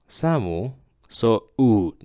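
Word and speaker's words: 寒そう: Samu, samu, so it's not samu so okay?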